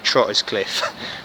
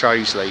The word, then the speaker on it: Trottiscliffe: Ken day walk for you today we're in Trey's Lee or as I first called it trotters cliff but it's not pronounced that it's pronounced Rose Lee so outside the gorge the pub and with